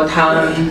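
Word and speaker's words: 汤: มา คำ ที่ 9 น้ำ ซุป ออก เสียง ว่า ทัง ทัง ซุป 1 ถ้วย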